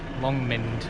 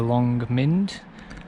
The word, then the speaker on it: Long Mynd: Long Mynd. I'll write it up. It's got a Y in it, but I think it's pronounced Mynd.